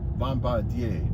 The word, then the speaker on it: Bombardier: they call them bomb Bombardier Bombardier French it actually it you pronounce it Bombardier Bombardier Bombardier uh Chinese